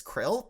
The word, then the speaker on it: Krill: My name is Krill, pronounced Krill. What's good? Like the thing whale lords eat."